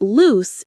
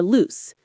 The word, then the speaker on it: loose: Loose has an s sound.